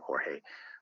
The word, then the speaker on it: Jorge: questions to ask you Jorge listeners can contact me through our website or hey PhD calm or is spelled J o RG e the J is silent in Spanish and also listeners can